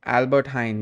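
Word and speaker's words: Albert Heijn: four years at Liverpool it's pronounced Albert Hine um cleared by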